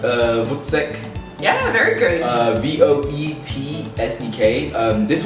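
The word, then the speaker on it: voetsek: All right, I think it's pronounced Vutsek.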